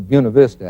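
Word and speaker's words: Buena Vista: 14,000 ft mountains and it's a little town they pronounce a buav Vista out there I know that's not the Spanish pronunciation but that's what they they're cowboys out there you got to remember and at buav Vista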